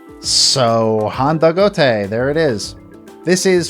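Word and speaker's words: Handagote: 10 years calling it hand to goat then i go to find out that it's actually meant to be pronounced as if you're speaking japanese so honda gote there it is this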